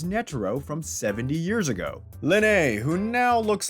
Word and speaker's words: Lynette: her name is spelled Lynette. Since Horsdoeuvre is French, we think that Lynette is pronounced Linne and the T is silent.